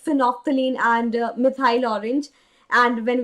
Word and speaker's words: phenolphthalein: Because when I talk about phenolphthalein OP, because just look at the name, and here L is silent.